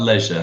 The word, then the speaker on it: leisure: In American English, we would say leisure. Oh. Because when two vowels go walking, the first one does the talking.